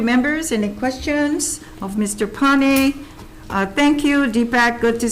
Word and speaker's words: Neupane: HCDA, Deepak, Payne. Are you on? Aloha. Aloha, Deepak. Aloha, Chair, and member of the committee. Chair, my last name is pronounced Pane.